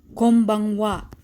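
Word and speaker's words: こんばんは: or b for example konbanwa in in com is pronounced as m because the letter that comes after n is b and as a rule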